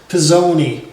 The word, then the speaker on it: PSone: and today we're looking at the PS1 uh pronounced pezoni uh it's it's an odd looking piece and